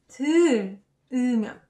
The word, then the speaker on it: 들으면: We instead say 들으면.